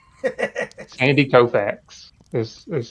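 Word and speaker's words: Koufax: Andy Kofax is is how you say his name.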